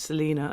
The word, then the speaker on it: Salena: go Celine deal when I say my name's Selena it's more annoying because I write you know